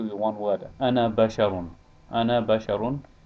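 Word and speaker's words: أنا: Ana basharun. This alif is not pronounced, as I mentioned in the last lesson.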